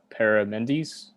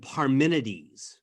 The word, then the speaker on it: Parmenides: uh and the uh paramendis that's right daniel um i apologize for my pronunciation if i butchered it's all good heraclitus and parmenides okay i bad yeah